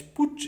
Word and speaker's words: Putsch: ये क्या होता है, तख्ता पलट करना कहते हैं इसको, PUTSCH, पुच इसका सही प्रोनाउंसिएशन होता है।